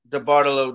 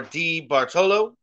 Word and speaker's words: DeBartolo: transformed this organization, Edward DeBartolo Jr., or D. Bartolo. So many people say his name so many different ways. I'm going to go with DeBartolo.